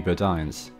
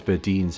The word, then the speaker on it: Bodines: mall with this Macy's which used to be Bodines I think I mispronounced it as badines in a previous video